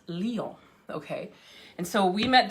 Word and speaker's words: Lyon: l y o n which we would pronounce lion lion but it's pronounced leo okay and so we